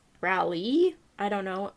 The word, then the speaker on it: Raleigh: rally i don't know r-a-l-e-i-g-h really i don't know like well raleigh if you're gonna say it like the capital of okay so north carol dammit north carolina raleigh we'll say raleigh then i just yeah raw